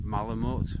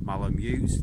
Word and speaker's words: Malamute: yeah, there was aspects of Malamute or Malamute, depending on which way you want to pronounce it, in case anybody tells me I'm pronouncing it wrong. Malamute to me.